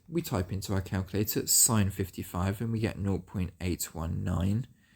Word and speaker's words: sin: So that means we're going to use the sine function. Although it says sin, you're going to pronounce it sine.